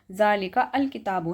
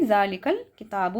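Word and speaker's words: ذلك الكتاب: जालिका अल किताब पढ़ने में फ्लो खराब हो रहा है। अब फ्लो हमें नहीं खराब करना है। तो हम क्या करेंगे? अलिफ को साइलेंट करेंगे। लाम पर जो है हमारी जज्म पहले से पड़ी हुई ही है। तो हम क्या करेंगे? जालिकल किताब पढ़ेंगे।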